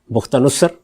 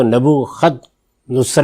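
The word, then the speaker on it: بخت نصر: بختہ نصر اس نے حملہ کیا، کسی اور دین کے ماننے والے، جس کو نبو خد نصر بھی کہتے ہیں. تو دونوں تلفظ اس کے ٹھیک ہیں.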